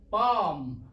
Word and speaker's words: palm: और उसके बाद आता है एल, जैसे कि आप जानते हैं एल यहाँ पे साइलेंट है, इसकी कोई साउंड नहीं आती, तो इसका कोई वोवल रिप्रेजेंट नहीं करेगा।